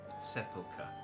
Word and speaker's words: sepulchre: Sepulchre. Thank you, Zolalja, for telling me how to pronounce that.